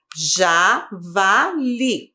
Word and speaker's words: javali: Javali. Sílaba tônica, li.